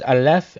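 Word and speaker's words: אלף: This is highly significant, for the letter, when pronounced as Aleph and spelt in full, Alf, means an ox or bull, Aleph, but spelled Alf.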